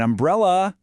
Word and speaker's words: umbrella: And the answer is, an umbrella, because umbrella starts with that distinct short uh vowel sound.